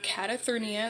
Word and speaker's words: Catathrenia: This is a sleep disorder, and it is called Catathrenia. That is how you pronounce it.